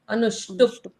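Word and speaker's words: अनुष्टुप्: हलंत रेखा ऐसे हां प को आधा पढ़ना है अनुष्टप और अगर और अगर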